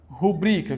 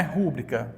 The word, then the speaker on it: rubrica: ó eu posso ter essa palavra aqui olha rubrica que não é rúbrica certo aqui é rubrica Esta palavra aqui ela